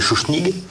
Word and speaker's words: Schuschnigg: Alors après Dollfuss, c'est le chancelier Schuschnigg, oui, bien prononcé, tout à fait.